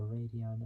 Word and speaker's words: Radeon: So Radeon, I think I said it right, it's spelled RADEON.